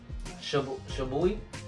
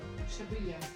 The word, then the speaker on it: Shibuya: I cannot pronounce that. Tokyo. How you say it? Shibuya.